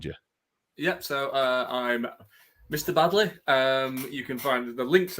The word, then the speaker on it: Baddeley: It's Baddeley.